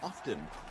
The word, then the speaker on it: often: pronounce the T in often people often ask the t is silent why often is a